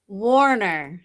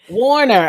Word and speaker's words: Wohner: Wohner. Warner. Okay, I knew it was Warner, but I didn't want to mispronounce it. Yeah, I know it's spelled a little differently, but you say it like Warner Brothers.